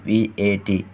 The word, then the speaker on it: VAT: It can be an acronym and we pronounce it as one word, or VAT rhymes with cat. It can also be treated as an initialism and we pronounce each letter separately, VAT.